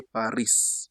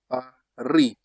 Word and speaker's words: Paris: For example, we say Paris. In French, you don't say Paris. That is not correct French. Usually, the final consonant is silent. You just say Paris.